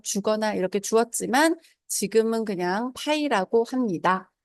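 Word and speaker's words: π: 원주율이라고 부르고 그것의 기호로는 자, 이러한 기호를 쓰고 읽을 때에는 파이라고 읽습니다.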